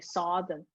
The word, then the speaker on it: southern: you told me hey leo i should be sodden so s-u-t-h southern yeah um it is in